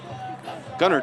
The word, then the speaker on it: Gunnar: on the return by Gavin Doyle. Yeah, that's uh Doyle's second really strong return this evening. Gunnar Doyle, I'm sorry I kept mispronounced that first name. Mom, I'm sorry. It's Gunnar Doyle.